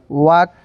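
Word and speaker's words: walk: एल देखें लोग तो इसका रूल था अगर एल के बाद DFM या के कोई आए तो वहाँ पे एल साइलेंट हो जाएगा। यहाँ पे शुड या हाफ, वाक, पाम, यहाँ पे सब जगह एल क्या है, साइलेंट है।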